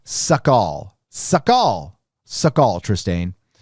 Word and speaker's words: Sukhoi: my christmas tree up it's sukhoi pronounced like suck all suck all suck all